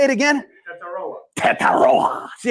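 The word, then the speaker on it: Tetairoa: Tataroa. See how he has that pronunciation down?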